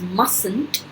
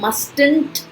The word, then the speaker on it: mustn't: can't, must not is mustn't, इसे mustn't नहीं बोलेंगे, mustn't. Remember T is silent here.